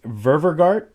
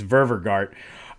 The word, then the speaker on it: Dennis Ververgaert: I literally write like I'm a kindergartner sounding out words phonetically sometimes, but I think it's Ververgart.